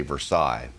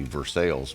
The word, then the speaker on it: Versailles: up in which well if it was in france they would say versailles but they're wrong in missouri we say it correctly versailles missouri that's my hometown and